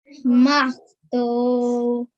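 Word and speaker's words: مختوم: So make sure you can hear the meme sound at the end as well.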